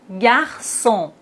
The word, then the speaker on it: garçon: Et maintenant avec cille ça ka sa français garçon façade déçu. Mais s'il n'y a pas de CD on doit les prononcer comme ça. Franqu facade mais on a la CD donc on doit dire français garçon.